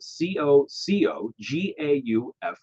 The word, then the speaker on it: Coco Gauff: Her name is spelled Cocogauff.